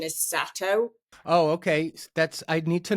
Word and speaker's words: Sato: off the bat here it's um the actual pronunciation is sat oh okay that's I need to know so thank